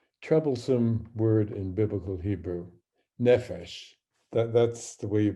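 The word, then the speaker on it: נפש: Now, I'm going to begin with a troublesome word in biblical Hebrew, nephesh. That's the way you pronounce the word represented with Hebrew script.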